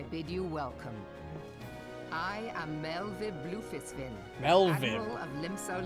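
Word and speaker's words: Merlwyb: I am Melvib Blufisvin, Melvib. Admiral of Limso Lominsa. WV is Commander Vib, of the or Maelstrom. Vi. It's a V sound.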